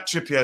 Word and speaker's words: Trippier: name k k Kiran Kiran trippier yeah trippa is how you pronounce his last name now I remember that wow uh he's on power with him and Bruno Fernandez 29 uh.